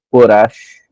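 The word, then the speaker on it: Korach: Cora, ele não se escreve muito bem assim, ele escreve, né, com CH aqui no final, mas às vezes pode ser, não é escrito assim também, Corash, né? Mas é Cora.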